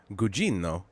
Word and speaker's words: Gugino: ] treasure have you watched uh the Carla Gugino show yet that's called what is that called what's that it's it's called good it's pronounced gujino is it really no she I don't think